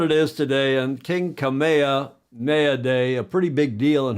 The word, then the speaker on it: Kamehameha: no king oh King kameha mayad yes King kameha mayad on I learned to pronounce it that last night on June 11th